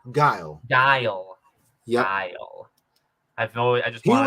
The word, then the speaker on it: Guile: It's like Gul. Guile.